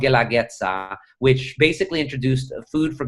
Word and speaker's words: Guelaguetza: Guelaguetza. I'll spell it out. Guela, Guetza. Guelaguetza.